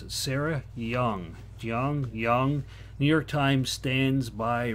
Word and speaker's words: Jeong: How do you pronounce it? Sarah Jeong. Jeong.